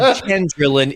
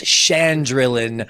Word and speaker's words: Chandrin: You said chandrin. It's Shandrin.